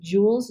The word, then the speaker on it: joules: energy we use joules it's pronounced Jewels j-o-u-l-e-s not j-u-u-l but